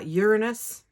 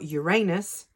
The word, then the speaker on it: Uranus: struggles with it so the two most common pronunciations are Uranus yes that sounds like urine or Uranus yes that sounds like anus so I heard someone